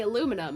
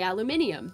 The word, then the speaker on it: aluminium: taught that we're just taught that we say aluminum and the others say aluminium this is how you spell it so the people who are self-righteous not